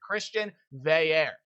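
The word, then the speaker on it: Christian Veilleux: Now, his last name is not pronounced anything like it says, so I'll pronounce it for you right here. Christian Veair.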